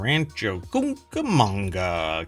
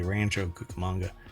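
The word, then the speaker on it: Rancho Cucamonga: between Las Vegas and Rancho camanga California you have to say it like that you can't just say Rancho kukamonga you have to go Rancho CA manga so there's only one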